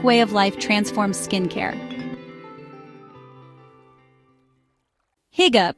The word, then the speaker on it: hygge: Higa, pronounced huga, is more than just comfort.